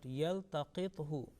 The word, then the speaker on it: يلتقطه: Okay, everything is okay, but yaltaqithu, that who is a dhamma, only 1 second, 1 blank.